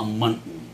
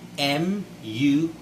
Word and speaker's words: muntin: So it is basically what we call a muntin. Muntin. It's M-U-N-T-I-N. Muntin or muntin, okay, if you want to pronounce the T.